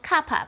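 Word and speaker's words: kappa: And this is the definition of kapa by the way. This little k pronounced kapa and which stands for curvature.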